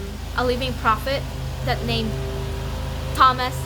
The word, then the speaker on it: Thomas: so I started saying Thomas and my companion she was she's from California and she told me that sister you don't really pronounce th in names and I'm like okay